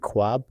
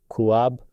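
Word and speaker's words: خواب: Why do we read khwab rather than kuab or Khahish rather than Kuahish.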